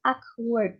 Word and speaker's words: awkward: And then awkward. Jadi W-nya itu tidak nampak. Awkward. Jangan aw, Awkward. but awkward. Awkward. Yes, ini jangan war tapi word ya, not war.